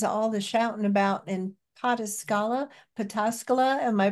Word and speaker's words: Pataskala: And in a related note, I was curious, what is all the shouting about in Pataskala? Am I pronouncing that? Pataskala, yeah, yeah. Pataskala.